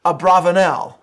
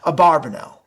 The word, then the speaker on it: Abravanel: i will be utilizing netanyahu's preferred pronunciation of the name abravanel rather than a barbanel i understand how people